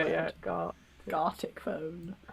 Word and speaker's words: Gartic: Gartic phone. You need I can't even say it yet. Gartic phone. G. It should rhyme with the Arctic.